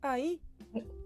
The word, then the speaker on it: ahí: Ahí. Okay. Ahí is not ahí, ahí, and we don't pronounce the H.